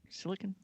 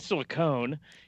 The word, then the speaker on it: silicon: runs on apple silicon silicon i never know how to pronounce that i know it's not silicone anyway so it comes